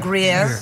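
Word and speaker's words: Gruyère: Is that how you pronounce it? Gruyere. Gruyere.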